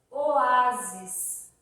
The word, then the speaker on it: oásis: Oásis. Oásis, ó. Oásis. São 3 sílabas. Eu não falo oásis.